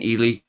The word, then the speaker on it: Ely: August 1st in Ely State Prison in Nevada. See, I'm going to pronounce it the right way this time.